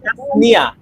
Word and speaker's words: তাসনিয়া: তাসনিয়া তয় আকার, হ্যাঁ দন্ত স, তাস 9 রসিকার, দন্ত রসিকার 29 আকার, তাসনিয়া। ঠিক আছে?